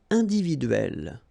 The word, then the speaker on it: individuelle: So remember when you get this and then double consonant, and especially here it's the same one, that's the idea. It will open the sound of so you will pronounce it like é.